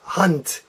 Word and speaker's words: Hand: Yelp and this word is not hand but hunt hunt think it sounds like a T at the end and this word is